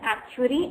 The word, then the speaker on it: actuary: And do you know how you pronounce that? Actuary or actuary? You must be wondering that. So this is like actuary, and this is the link of how you need to pronounce this thing.